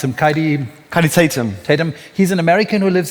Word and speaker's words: Kaidi Tatham: How do you pronounce him? Kaidi Tatum.